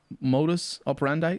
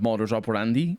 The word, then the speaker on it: modus operandi: is it's an english word and so it's pronounced mod modus operandi that's how it's pronounced right yeah instead of modern operandi which would be more close to what latin